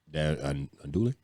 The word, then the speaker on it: andouille: But yeah, so those are the 3 things we had, and they're andouille. That 2 L's are silent.